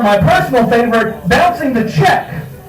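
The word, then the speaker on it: Czech: Or my personal favorite, Bouncing the Check, in which check is spelled C Z E C H cuz it's actually about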